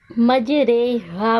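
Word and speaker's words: مجريها: नज़र आ रही है, लेकिन हम इसको उर्दू के लफ्ज़ कतरे की रा की तरह यानी री नहीं बल्कि रे पढ़ेंगे, मजरे हा पढ़ा जाएगा।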